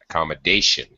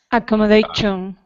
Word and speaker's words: accommodation: accommodation or lodging okay a slight pronunciation problem on accommodation accommodation accommodation shun it's an sh sound accommodation okay hang on a